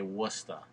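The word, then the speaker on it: Worcester: Worchester look it up it's spelled Worchester and you guys say wora I don't even know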